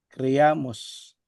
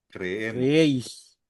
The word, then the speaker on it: creemos: So be careful ha 'yung pronunciation po natin ng letter E. For example, E hindi A. Kasi kapag sinabi mong creamos, magiging pautos po 'yan.